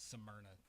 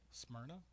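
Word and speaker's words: Smyrna: city in Mexico and he says samna tennis samna high school I'm gonna have to hold you to that what is it smyna two syllables smrna I said sna sna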